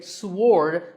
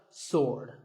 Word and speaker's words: sword: what about this word sword many people say sword but that is totally wrong it's just sword and here's one last word with silent letters